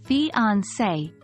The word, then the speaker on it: fiancée: accent mark on the letter e it is pronounced as fiancee let's look at some example sentences to understand